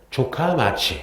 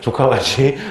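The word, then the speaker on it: 城下町: 그래서 발음 조심해야 돼요. 조카마치. 뭐라고요? 조카마치.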